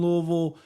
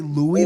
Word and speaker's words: Louisville: Russell see you in Louisville. Uh that's how they say it though. Don't say Louie though.